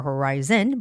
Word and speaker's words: horizon: Well, horizon, the word has the second vowel syllable, so it's not horizon or horizon, but it's horizon. I has the stress.